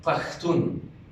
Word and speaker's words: Pashtun: You pronounce it Pashtun.